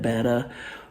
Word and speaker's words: betta: Guppies they're actually um betta fish which you know people who get into the hobby pronounce it better but um I bred